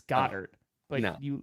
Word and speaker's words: Goedert: It's Goddard. But no. you like Goddard, and I made a Spaceballs. Yeah, joke. it's actually pronounced Godert.